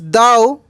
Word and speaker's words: though: Spelling पर ध्यान दीजिएगा, THOUGH, THOUGH, लेकिन यहाँ टी लग गया है तो थॉट पढ़े, इसको दाव पढ़े मेरे दोस्त। GH साइलेंट है, क्या है, यहाँ पे